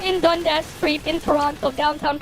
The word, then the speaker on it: Toronto: name of the city if they pronounce the second T in there that's how you know anyways uh they were